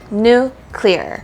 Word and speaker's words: nuclear: hear the difference so the correct way to say it is two syllables new clear whereas a lot of people like to say Nuclear So nuclear but that is the